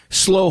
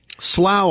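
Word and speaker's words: Slough: Slow, I think, is how that's pronounced. Slow.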